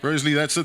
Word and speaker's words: Broseley: Broseley, that's it, guys, I'm sorry.